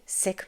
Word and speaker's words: Sikh: So the next time you see this word, pronounce it as Sikh. You don't have to be perfect. As long as you're trying, that's it. That's the whole ask. Because at the end of the day, Sikh means learner.